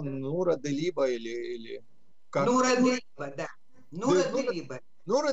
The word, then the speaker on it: Нура де-Либа: Я боюсь, может, ты меня тогда поправишь, если я не там сделаю ударение. Называется оно «Нура де Либа» или как? «Нура де Либа», да.